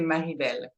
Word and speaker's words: Mariebelle: In French, you say Mariebelle. Mariebelle. How's that? Yeah, you got it. But yeah, there we go, a little bit French.